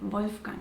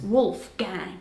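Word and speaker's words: Wolfgang: Which is more like here pronounced with an American accent. It's wolf gang.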